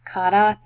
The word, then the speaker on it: karate: shop how about that obviously we know it as karate but cut out that is how you say it in Japanese and Kanna actually means